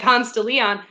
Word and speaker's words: Ponce de Leon: in yeah i said ponce de leon because that's how you pronounce it in atlanta you do not want